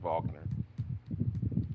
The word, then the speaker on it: Wagner: here and bring in Wagner Vogner Van W's V a German pronunciation and we'll leave the